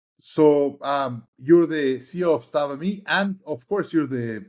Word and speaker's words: SattvaMe: SattvaMe.